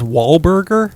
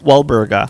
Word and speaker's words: Walburga: Her name's Walburga Korschel. They called her Dolly for short. And she... Wait a minute. Her first name is Wahlberger? Walburga.